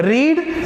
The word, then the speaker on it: read: they have not read this book, मैं read कह रहा हूं, रीड, रेड, रेड होता है थर्ड फॉर्म। स्पेलिंग रीड ही होती है बट उसे रेड पढ़ा जाता है।